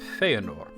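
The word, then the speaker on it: Fëanor: his name feyenoor um now the accent is on faith Fey and nor it's not feenor it's feenor because in Elvish names it's custom for the second to last syllable to have the accent and even though feenor seems to be three syllables and or is sort of treated as a single syllable so the next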